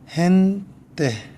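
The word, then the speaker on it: gente: 그 외에 이와 아이가 오면 뭐겠어요? 히읗 발음이 나요. 헨때, 헨때, 사람들이라는 뜻이에요.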